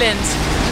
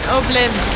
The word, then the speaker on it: Obninsk: And how do I really pronounce it? Obninsk. We are in Obninsk. Obninsk. Obninsk. We all know that we are in Obninsk. Obninsk. Obninsk. Like Obelix. Obninsk. Obninsk. Obninsk. And mit N. Mit N.